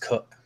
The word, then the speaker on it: Koch: Yeah, it's pronounced Cook. Well, that's just contrarian to be contrarian. Come on. Yes. Sorry, Matt Cook here taking on Tyson Ross. Let's let you talk about Ross here. First of all, I had to look up how you pronounce Cook's last name because I didn't want to call him Cock the entire podcast and that not be correct.